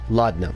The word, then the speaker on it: laudanum: Laudanum, that's how you say it.